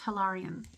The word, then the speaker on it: Hilarion: He's telling me it is pronounced Hilarion.